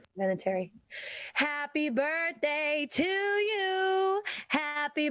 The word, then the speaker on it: Vinatieri: How do you pronounce his last name again, John? Vinatieri. Vinatieri.